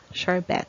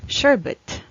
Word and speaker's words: sherbet: might pronounce this pronounce this as short bet sure bet but actually it's pronounced as sherbet sherbet sherbet and it has variance or less